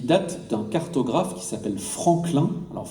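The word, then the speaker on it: Franquelin: ce fort qui date d'un cartographe qui s'appelle Franklin alors Franklin c'est ça s'écrit à la française FR a n Q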